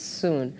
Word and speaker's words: Soon: It's soon. It is soon. Coming soon, going soon, opening soon, closing soon.